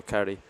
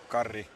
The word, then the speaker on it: Karri: I think we're just going to go Carey. Karri. See, obviously a much better pronunciation from the actual Finn. It's almost like he's native.